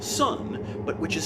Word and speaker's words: Sunn: Not the Earth that was proto-Black Sabbath, but the Olympia, Washington-based Earth founded in 1989, and Sunn, whose name is indeed pronounced Sunn, but which is spelled Sunn O parentheses parentheses parentheses.